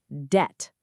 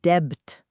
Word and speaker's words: debt: Silent B again. It's just debt, rhyming with met, not debt.